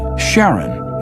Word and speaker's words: Charon: christie suggested the name karen after the ferryman of Pluto's underworld in greek mythology but preferred to pronounce it sharon more like his wife's name charlene from the motions of